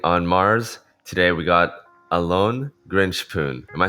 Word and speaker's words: Alon Grinshpoon: Today we got Alon Grinshpoon.